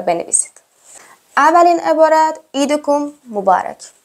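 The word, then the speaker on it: عيدكم مبارك: و بنویسید اولین عبارت عیدکم مبارک عیدکم مبارک بچه عید چون عین داره حالا من یهکم غلیظتر تلفظ میکنم عیدک مبارک عید فتک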